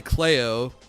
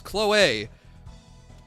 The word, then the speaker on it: Chloe: I want to say Cleo, but that's not right. But it's pronounced weird like that. Oh, Mercenary, you can just tell me. Oh, no, I was close. Chloe. So, man, now I'm mad that I was that close.